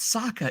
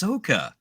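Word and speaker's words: Sokka: thinking yes you're right it's not Saka it's sooka because we have pronunciation issues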